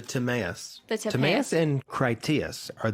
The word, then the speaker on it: Timaeus: did a work called tomius i think is how you say it yeah the timaeus the tomas and criteus